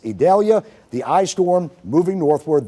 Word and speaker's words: Idalia: It's pronounced Idalia, sounds like an E, but it's Idalia.